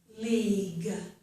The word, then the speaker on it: league: When G is followed by UE at the end of a word, usually both the U and the E are silent. This is league, but we hear the G, okay?